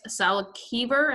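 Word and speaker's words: Salkever: We have Alex Salkiver, that's how you say it, and Vivek Wadhwa.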